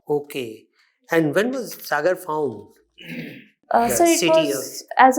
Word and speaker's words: Sagar: And the Britishers, because they could not pronounce it, they used to say Sawgur, Saugor. Okay. And when was Sagar found?